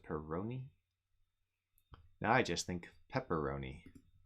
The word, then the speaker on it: Peroni: changed the coffee into the peroni is how you pronounce it peroni now i just think